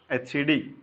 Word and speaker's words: etcd: It's called etcd. etcd. It's pronounced as etcd, etc. d.